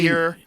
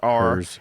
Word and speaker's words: hir: pronouns, use pronouns Z, HIR, Hers. HIRS, ZHEE, here, here's, here, here. How about here? Pronunciation. HIR is here. It's not even her.